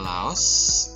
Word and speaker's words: Laos: Laos itu kalau bahasa Inggris dibacanya Lao, bukan Laos kayaknya deh.